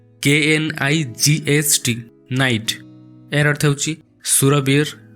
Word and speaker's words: knight: Next अछि बहुत confusing word नाइट KNIGHT नाइट एर अर्थ होची सुरवीर बा योद्धा। आ गोटे वर्ड अच्छी नाइट NIGHT नाइट एर अर्थ होची राति। साउंड एका भली करूची किंतु तार स्पेलिंग आ मीनिंग संपूर्ण अलगा।